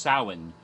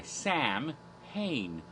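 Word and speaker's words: Samhain: yes there's Celtic things when his name was correctly pronounced soin but he goes by Sam pain because it's alright now let's see where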